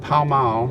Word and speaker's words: Pall Mall: we're here today in a little town called pao mao and that is how it is pronounced and we are going to the grave